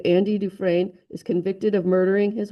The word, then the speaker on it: Dufresne: In the Shawshank Redemption, this is pronounced Dufresne, by the way. Andy Dufresne is convicted of murdering his wife and her lover despite his innocence.